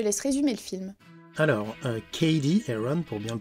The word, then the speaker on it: Cady Heron: Alors, Cady Heron, pour bien le prononcer, a 16 ans.